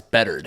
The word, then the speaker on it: Bedard: First off, it's Bedard. Oh yeah, right. It's Connor Bedard.